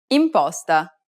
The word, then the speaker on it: imposta: The next vowel is I, imposta, colibrì, bile, It's identical to the double E sound in the word see.